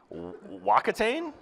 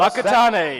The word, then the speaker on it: Whakatane: Wakatane? Hey! All right, is that close? Whakatane.